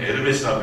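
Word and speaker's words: Hermès: 네, 에르메스 철자를 보면은요, H로 시작되는데 발음은 에르메스라고 해야 돼요. 그게 남유럽에서는 H가 묵음이기 때문에 발음을 하지 않습니다.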